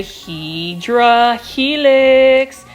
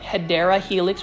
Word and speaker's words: Hedera helix: certain plants like the hedra Helix and for those that are new to my channel I actually Mis pronounce the word um hedera Helix which is for English